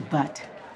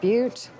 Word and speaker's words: Butte: for me I'd like you to get to but I believe it's pronounced Butte Oh could I please have some fried eggs